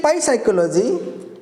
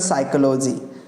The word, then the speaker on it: psychology: silent if you say Pi psychology the people may love you and they will not understand it's called psychology p is silent if you say Pino